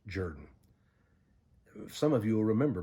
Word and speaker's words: Jordan: Jordan two Sundays ago it looks like Hamilton Jordan but he pronounced it Jordan if some of you